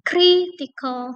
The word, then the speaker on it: critical: Jadi critical. Nah, ini yang kita stress adalah kenya critical.